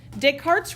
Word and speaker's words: Descartes: Descartes rule of signs his name is French so when I put it up on the screen and you see it spelled out it's going to have a lot more letters than we actually pronounce Descartes rule of signs